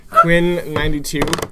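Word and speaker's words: Quinn XCII: Those are Roman numerals, so it's XCII, Yeah. which I think is 92. Quinn 92.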